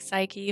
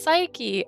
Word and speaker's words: Psyche: this correctly because push here's the thing you can't put PSY and not me say Sai it's just how I go like my name's psycho